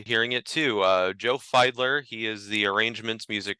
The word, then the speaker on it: Fiedler: folks today we are pleased to welcome Joe feidler Joe happy to have you here I'm so